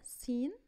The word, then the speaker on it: scene: أول example معايا سين سين سين معناها مشهد وهنا ما نطقتش حرف C.